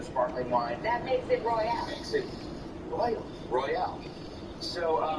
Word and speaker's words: Royale: They're really Royale. You gotta say it like a Royale. Negroni Royale, like a Royale with cheese.